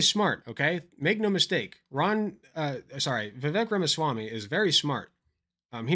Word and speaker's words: Vivek: So yeah, that's Vivek, rhymes with cake.